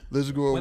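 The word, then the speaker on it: Lisagor: He won the Lizagore Award. That's how you pronounce it, Lizagore? Yeah. Lizagore Award.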